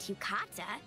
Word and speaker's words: yukata: She's attending the festival in an elegant yukata. Yukata. That's how you pronounce it, yeah.